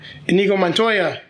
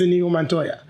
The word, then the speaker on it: Inigo Montoya: things a little easier we've got enigma montoya you've killed my father prepare to die well my name is inigo montoya got to say it right count rolled again